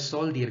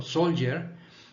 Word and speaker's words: soldier: la pronunciación de soldier, no es soldier con D, es como con Y. So, soldier, después viene, tú sabes que es soldado, de soldado a general.